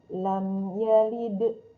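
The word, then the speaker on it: لم يلد: Teman-teman biasa membacanya lam yalid wa lam yulad, mimnya tidak disempurnakan dulu tutup mulutnya, ditahan satu harakat. Lam yalid, tidak lama-lama. Lam yalid, ketika lama maka dia seperti ada gunahnya.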